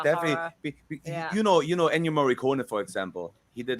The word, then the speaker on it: Ennio Morricone: Ennio Morricone.